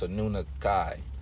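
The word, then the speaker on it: Anunnaki: were anunaki okay anunaki is not anunaki is a nun Kai that's how it's pronounced and on the island of California I'm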